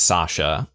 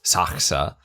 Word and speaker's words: Saka: One, I'd been pronouncing his name wrong as Sasha. It's Saka. Uh, but that's why they're saying Zaka.